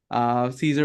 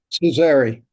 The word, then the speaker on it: Cesari: So today we have Caesar over here. So am I pronouncing that correct, right? Cesari.